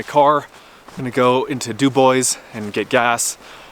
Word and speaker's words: Dubois: i'm gonna go into dubois and get gas it's spelled dubois but you know around here we call it do boys there's one in idaho too and people say it the same way dubois so anyway i'm gonna